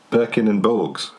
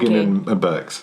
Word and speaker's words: Borgin and Burkes: Or is it Birkin and Borgs? It's not Borgin and Borkes? It's not, no, it's Borgin. Borgin and Burkes. It's Borgin and Burkes.